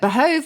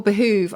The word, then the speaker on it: behove: you GS for example or behoove behov I would have said behov I thought it was spelled b h o v yeah it is but it can also at least it was once spelled with double O which I kind of think looks sweeter but behove or behoove I just think it's